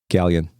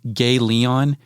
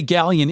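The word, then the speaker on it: Ghaleon: introductory sequences with Galen gallion we have to get a talk about that because I had another we'll do it now I had a fucking friend he pronounced it gay Leon and we thought that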